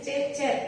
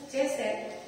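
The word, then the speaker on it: חֶסֶד: Kata kasih setia itu dipakai kata Ibrani gini, ceset, tulisnya cecet, tapi bacanya ceset.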